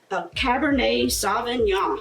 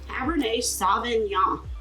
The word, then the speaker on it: Cabernet Sauvignon: It's another California brand, and it's a Cabernet Sauvignon. I think that's how you say it, Cabernet Sauvignon.